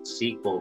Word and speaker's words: SQL: Also, I think it's pretty clear that SQL should be pronounced SQL because it was invented by IBM back in the day. And initially, it was called SQL, the word S-E-Q-U-E-L.